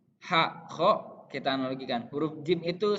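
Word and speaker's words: خ: Kho. Nah, huruf kho harus diucapkan seperti orang yang sedang mengorok gitu. Nah, tapi ini harus dilantangkan dengan jelas. Kho. Jadi dimainkannya di tenggorokan.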